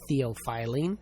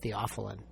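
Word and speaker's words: theophylline: I remember as a medical student reading a pharmacology textbook asking my dad, "Dad, what's theopilene?" He said, "We pronounce that theopheline."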